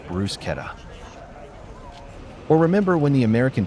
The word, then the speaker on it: bruschetta: Her party wanted to fine people around $100,000 for saying bruschetta instead of bruschetta.